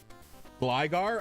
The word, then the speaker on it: Gligar: Isn't Gligar pronounced with a longer I? I have no idea. Gligar? I guess that makes sense as if it's gliding. I don't really care that much about official pronunciations.